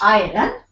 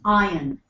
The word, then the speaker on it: iron: It's not iron. It's iron.